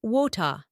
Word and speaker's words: water: I would say wota. That T is crisp, with a little puff of air.